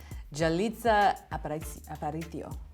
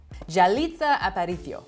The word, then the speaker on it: Yalitza Aparicio: I'm going to pronounce her name now. Yalitza Aparicio. Yalitza Aparicio.